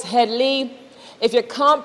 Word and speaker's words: Headley: e especially in trinidad it ain't head lie it's headly if you can't pronounce